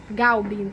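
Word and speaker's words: Clubin: Ele acabou contratando, né, o Clubbing, né, no livro tá escrito Clubbing, mas aí eu fui procurar saber, e se pronuncia Galbin, porque é francês.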